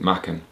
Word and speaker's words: Machen: Now, he's a Welsh speaker, I should say, Machen, but I understand he actually pronounced it Machen.